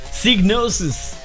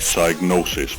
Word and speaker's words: Psygnosis: that and i quote i can guarantee it's pronounced psygnosis that synthetic intro voice over saying diagnosis presents was actually wrong this new video is